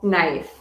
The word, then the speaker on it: knife: on the silent k k is silent when followed by n at the beginning of the word for example knife knife you need a